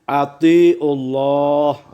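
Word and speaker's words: أطيعوا الله: Kemudian bacaan dari atiullah. Atiullah ini tahfimnya, hukum bacanya tahfim. Dibaca tebal ya.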